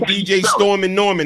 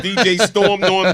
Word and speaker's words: DJ Storm Norm: I hate when they call me DJ Storm and Norman. That's not my name. It's DJ Storm Norm the.